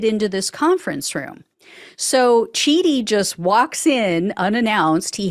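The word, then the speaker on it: Chidi: Journalist George Cheedy, I think is how you pronounce his last name, he just announced that he's been issued a subpoena to appear.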